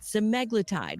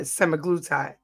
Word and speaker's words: semaglutide: Ozempic's active ingredient, semaglutide, works by making you feel full longer. Doctors say it's similar to Wegovy, which has been approved for weight loss by the FDA. Okay, so they call it semaglutide.